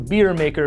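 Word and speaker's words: BeerMKR: whatever it is it's the beer maker but it's spelled beer MKR which is stupid anywho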